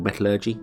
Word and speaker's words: metallurgy: Intermediate logistics and metallurgy. Or metallurgy, depending on how you want to pronounce that.